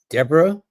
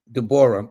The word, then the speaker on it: Deborah: Some people like to have this name Deborah or some like to have it Dbor.